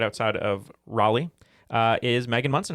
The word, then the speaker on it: Raleigh: Coming to us from Cary, North Carolina, right outside of Raleigh, is Megan Munson. How are you, Megan? Great. How are y'all? Great. Did I said it right? Raleigh? Raleigh, that's correct.